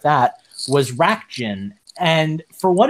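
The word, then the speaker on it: Racjin: I believe their name is pronounced Rakjin. They used to be Rakdim, but that was just a pronunciation error from like the English translation.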